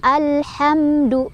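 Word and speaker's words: الحمد: Cara bacanya, mimnya dibaca jelas. Dibaca jelas yang dimaksud adalah mimnya dibaca sesuai dengan makhraj atau tempat keluar dari mim tersebut, yaitu 2 bibir ya. Jadi alhamdu, jangan mantul.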